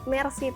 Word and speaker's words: Meersea: si Jadi kita pakai Mercy tour tapi kalau secara pengucapan kan seperti bahasa Perancis ya Mercy Terima kasih gitu jadi ee itu sih